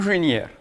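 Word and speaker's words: инженер: une junière, ça veut dire un ingénieur. Donc là, on va avoir un accent tonique qui va se placer sur la finale et donc on va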